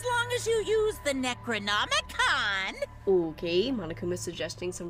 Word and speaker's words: Necronomicon: according to the Necronomicon monokuma showed us Necronomicon that's how you pronounce that okay you have to